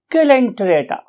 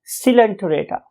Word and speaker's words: Coelenterata: Few people से इट एज सिलेंटरेटा, सिलेंटीराटा और टिरेटा, and others may utter it as calenterata. However, most of the scientists or teachers love to say it as silenterata, right?